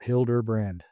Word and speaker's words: Hilderbrand: Uh my name is Hilderbrand and uh that would be the way to pronounce it. Hilderbrand.